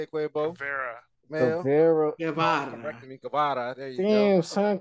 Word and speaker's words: Guevara: Correcting me, Guevara.